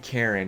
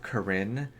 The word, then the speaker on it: Corinne: pronounce her name yeah her name isn't Karen it's Corinne which here's my like